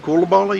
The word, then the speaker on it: Coulibaly: to chase down James Coulibaly, and that'll put him back in 2nd place. I hope we're pronouncing his last name correctly. Coulibaly, yeah, we are. Yeah. I know. I've talked to him.